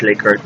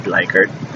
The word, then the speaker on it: Likert: scale Likert scale 1 to 5 so it's pronounced Likert not Likert culture you know that so these are all